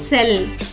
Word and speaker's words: cell: నియమం ఏమిటంటే సి తర్వాత ఎప్పుడైనా ఐ లేదా ఈ వచ్చినప్పుడు ఎక్కువ పదాల్లో సి యొక్క శబ్దం కాకుండా స అవుతుంది. కాబట్టి ఈ పదం యొక్క ఉచ్చారణ అవుతుంది సెల్. కెల్ కాదు, సెల్.